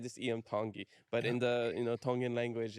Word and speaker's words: Tongi: Iam Tongi. So it's almost like a D. Yeah, kind of. It's like an in between a D and a T.